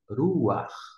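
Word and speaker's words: רוח: A vogal é pronunciada primeiro e, na sequência, vem a consoante. Desta forma, você lê ruar, sopro, vento, espírito.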